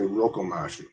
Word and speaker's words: Rokomashu: Well, it's rip-off, knockoff, mashup, but I can't seem to pronounce Rokomashu, so I say Rokomashu.